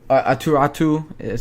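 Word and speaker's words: Aatu Räty: Aturatu, who is Aturatu. Sorry, that's how you pronounce his name.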